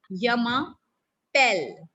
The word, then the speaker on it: je m'appelle: Yamapel. Like we say bell, bell in English. Similarly, we call it here pel.